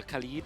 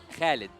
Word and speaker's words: Khalid: don't know, maybe a Khalid actually. Oh, How do I say that? hey? How do you say Oh, actually, my real name, it is Khalid. Khalid? Khalid. Yeah. Okay, so that's how we pronounce it.